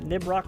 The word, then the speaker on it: Nibroc: or right trigger uh where did the name nib rock rock come from well my first name is